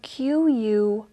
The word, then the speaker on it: quinoa: And it's spelled Quinoa.